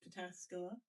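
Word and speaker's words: Pataskala: That's how I remember how to spell it, but it's pronounced Pascula.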